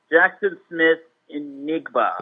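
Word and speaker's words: Jackson Smith-Njigba: Remember this wide receiver's name, Jackson Smith Enigba. Mm-hmm. I believe that's how it's pronounced.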